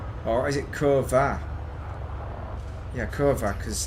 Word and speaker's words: kurwa: Yeah, Kurva, because like it's a V, isn't it?